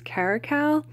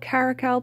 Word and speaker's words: Caracal: I always feel like I'm mispronouncing it, but I believe the correct pronunciation is Caracal.